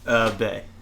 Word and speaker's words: Beh: I say Beh because it's B-E-H. How do you pronounce it? Bay.